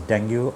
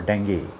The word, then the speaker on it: dengue: talk about Dy dangu we call it as dangu or dangi both the ways you can pronounce it uh see these days